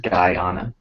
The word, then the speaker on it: Guyana: It's pronounced Guyana, apparently.